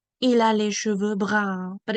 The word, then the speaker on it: brun: Color now, une couleur brun. Okay, let's practice pronouncing this. Brun. The S is silent. Brun. It means brown, but it's said with a French accent.